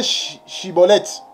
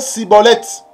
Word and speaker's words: Schibboleth: galat les saisissaient voyez donc pour ne pas être saisi il faut bien prononcer chibolette il ne faut pas prononcer cibolette il ne faut pas